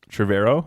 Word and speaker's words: Trevorrow: here so the director for Jurassic world Colin Trevorrow is how you say it he was initially